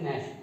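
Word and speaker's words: gnash: है टू नैश, तो ये नैश इसका प्रोनाउंसिएशन है, एन से पहले अगर जी आया है तो जी नहीं बोलेगा, जी का साउंड नहीं बोला जाएगा और हम एन से इसको प्रोनाउंस करेंगे नैश, वंस टीथ।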